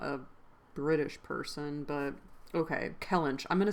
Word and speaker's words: Kellynch: Kellench. I'm gonna say Kellench.